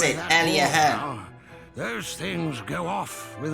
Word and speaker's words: Aliahan: So that's how you pronounce it, Aliahan.